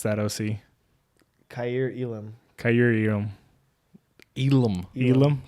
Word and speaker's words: Elam: Elam. There's no R in the last name.